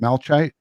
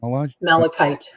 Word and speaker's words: malachite: could uh i don't even know how to pronounce that malchite mel malachite yeah thank you mala type poisoning be detected